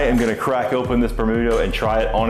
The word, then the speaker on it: Bermutto: Bermutto is just vermouth phonetically sounded out for Japanese, and I'm really excited